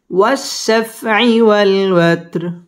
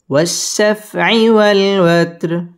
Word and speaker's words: والشفع والوتر: والوت، را زري، والوتر، والشفع والوتر والشفع والوتر। ওয়াও ঠোঁট গোল করে উচ্চারণ করতে হবে।